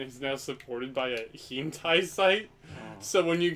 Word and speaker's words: hentai: H-E-N-T-A-I, I think. Yeah, that's how it's spelled.